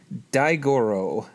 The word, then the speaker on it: Daigoro: My friend James helped me out with the pronunciation, so here I go. The Japanese title is Kaiju, Daifusen, Daigoro, Tai Gorashu.